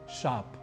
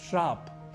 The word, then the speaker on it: शाप: शब्द सुना ही है शाप जिसे हम में से बहुत से लोग श्राप ही लिखते और बोल जाते हैं यहां भी हम अतिरिक्त रूप से र अपनी ओर से जोड़ जाते हैं लिखते शाप है बोलते श्राप है जो कि गलत है इसी के प्रभाव